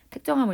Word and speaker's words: 택정: 택정함을 입었다고 하는데, 자, 여기서 택정이라는 단어는 발음할 때 이렇게 택정 이렇게 발음이 나요. 자, 요거는 이제 국어 지식을 하나 끼워서 애들한테 가자면, 뭐 이게 된소리라는 게 뜨, 뿌, 스, 쯔 뭐 이런 게 된소리인데 그렇게 된소리로 바뀌었잖아요, 그렇죠?